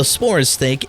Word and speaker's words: Sporecyst: And finally, onto our Sporecyst. That's exactly how you pronounce it. If anyone else tells you otherwise, they're wrong and they don't know what they're talking about. So, the Sporecyst is a sniper with